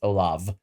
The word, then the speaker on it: Olav: Presiding Bishop Olav, I'm just going to leave it at presiding Bishop Olaf, because not even Olaf, it's Olav with a V, because I will butcher the middle and the last name.